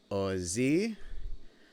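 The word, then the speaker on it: עוזי: So, to pronounce these, it's Ozi v'zimrat Yah, Yah being the name of God, Vayehi li lishua.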